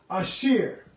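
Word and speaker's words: אשר: So the Hebrew word for that, in Hebrew, the English word that is T-H-E, it's asher.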